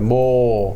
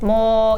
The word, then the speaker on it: 모: 모. More, yeah. Okay. You can extend the sound.